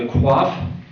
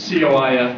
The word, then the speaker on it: Coif: He graduated Order of the Coif. I assume that's how they pronounce it. It's C-O-I-F, not Q-U-A-F-F.